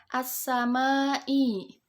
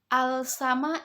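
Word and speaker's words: السماء: Kemudian as-samai. Ya, as-samai alif lam bertemu dengan sin. Bukan dibaca al-samai ya, bukan. Karena ini hukum bacaan asyamsiyah.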